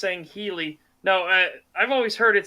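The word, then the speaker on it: Sangheili: Scoopmeister, it's pronounced Sangheli. No, I've always heard it Sanghali, and then the planet is Sanghelios.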